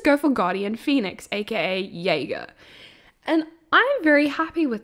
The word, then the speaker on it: Jaeger: um it's pronounced Jaeger like Yay celebration and then girl like you growling at someone I don't know why